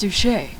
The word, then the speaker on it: Douche: Duche is actually just spelled douche. So it looks like Francois Gaylord von Douche the sixth. But his thing is, it's pronounced Duche.